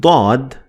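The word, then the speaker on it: ضاد: lesson is bod and bod is again similar to death but it's much heavier version of the sound as a matter of fact bod is a unique sound that is only found in the Arabic language that's why the Arabic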